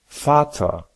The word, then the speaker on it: Vater: si la fin est ER, bien que ER ne soit pas faux et serait parfaitement compris, il est plus naturel de le raccourcir à A, par exemple, Vater, Peter, Fa.